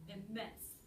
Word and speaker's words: immense: immense IMM IM IM it's not more of an IM more immense the stress is on on the second syllable in in and that's